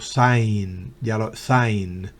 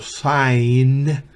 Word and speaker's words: sign: H Miren el verbo Saint no se pronuncia la g el verbo subáis significa suspirar y el verbo Saint sin la pronunciación de